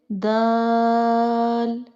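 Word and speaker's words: دال: Our next letter is dal. Please read after me. Dal, dal, dal. Let me explain you origin of dal. Dal pronounced as start using tip of tongue by touching gums of front two teeth.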